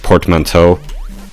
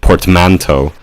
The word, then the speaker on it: portmanteau: I pronounced it portmanteau, but then I remembered, oh, they probably pronounce it portmanteau. So I went on Wikipedia. Yeah, both stresses are apparently permitted, or Wikipedia says.